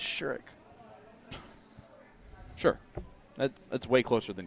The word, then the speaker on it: Sherrick: It's Sherrick.